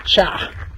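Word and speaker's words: chat: it's not a cat, it's a cha. Cha. C-H-A-T. And that over there, that four-legged dog is a chin. Chien. It's spelled like Chien.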